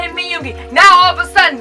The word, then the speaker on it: Min Yoongi: Min Yoongi. 3 syllables. Min Yoongi. I always call him Min Yoongi.